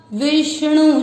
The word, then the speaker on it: विष्णु: चौथा चरण वापस, ग्रसिष्णु प्रभ विष्णु च। वापस, ग्रसिष्णु प्रभ विष्णु च, यहाँ पर विष्णु ना बोले अण है, अण इसलिए उच्चारण क्लियर है।